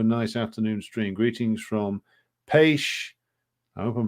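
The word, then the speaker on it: Pécs: Greetings from Paish, I hope I'm pronouncing that right, Southwest Hungary. I'm pronounced Paish, CH like Chihuahua.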